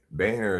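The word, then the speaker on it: Boehner: very drunk John B Banner is spelled b o e h n e r it's not spelled in a way that makes intuitive sense we can prove this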